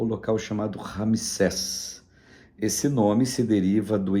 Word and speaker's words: Ramsés: no deserto primeiro local e o local chamado Ramsés esse nome se deriva do egípcio propriedade do Rei ramses ramisés eh se lê ou meso se escreve ramessés mas é a propriedade do do